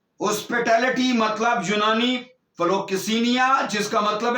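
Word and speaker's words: philoxenia: फिलोकिसेनिया। और यहां इसके स्पेलिंग में आपको बताता हूं, PHILO फिलो, और आगे क्या है? XENIA किसिनिया, फिलोकिसिनिया। 5381 नंबर का लफ्ज फिलोकिसिनिया।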